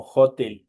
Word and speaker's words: hotel: igual otro cuidado porque esta H sigue siendo una Hpirada. Eh, tenemos el edificio de del hotel y obviamente hotel se traduce al inglés como hotel. Hotel, ya saben, en esta Hpirada y se pronuncia como que ahí estuviera una J.